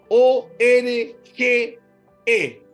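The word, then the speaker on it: ὀργή: O r g e org con acento en la e.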